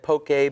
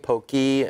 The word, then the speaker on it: poke: do you say it so it could either be said poke pokey uh really whatever preference you have towards it uh kind of like a tomato tomato situation okay but I personally